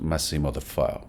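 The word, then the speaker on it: Massimo De Feo: de fe o bueno la pronunciación es máximo de fe verdad porque él es un italiano italiano verdad es de los 70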